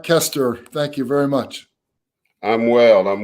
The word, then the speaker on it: Koesterer: pronounce his name correctly I believe it's Mark our coasters coaster sir it's Mark Kester thank you very much